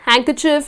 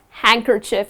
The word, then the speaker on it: handkerchief: blow your nose in, so that’s just handkerchief, it’s not hand kerchief. But it’s just handkerchief. You do not pronounce the letter D.